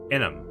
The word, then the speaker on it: Inman: Spell that for me again. Inman. Enum. Okay, thank you. That's how I'm going to say it. Enum. I mean, that's like the southern way to say it.